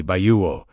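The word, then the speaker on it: בעו: This is where we encounter bayou, pronounced approximately bayuo, carrying the idea of seeking, searching, or pursuing.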